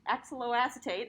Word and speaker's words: oxaloacetate: axial acetate all right i actually had to write this down on how to pronounce it because i could never get it right um but axel lau acetate oxaloacetate all right we got